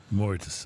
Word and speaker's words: Mauritius: eye on the Meredith uh oh Moors yes Mauritius I think uh more Mauritius that says so they have the pronunciation right there okay um m-a-u-r-i-t-i-u-s Mauritius a